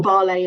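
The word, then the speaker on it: Vale: Resources company in Brazil called veale or Bay if you're going to pronounce it the um Portuguese way and this Natural Resources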